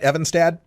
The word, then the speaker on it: Evanstad: And do I have the name pronounced right, Evanstad? Yes.